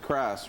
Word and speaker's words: Christ: We have up there right now Isaac Jones, Cameron Simmons, and Logan Christ. A lot of people pronounce that Chris, but go with Christ, right?